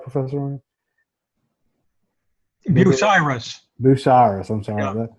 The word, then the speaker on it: Bucyrus: Bucharest International. Did I pronounce that right, Professor? Bucyrus.